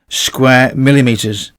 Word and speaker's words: square millimeters: A question that often pops up: is it square millimeters or millimeters squared? Is there a difference between them? For conductor CSA, we pronounce it square millimeters.